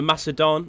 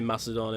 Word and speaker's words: Macedon: generals bodyguard for the Macedon or maca Don I'm sorry whichever way you want to say it I say Macedon him in my opinion is just it's how it's spelt which is by me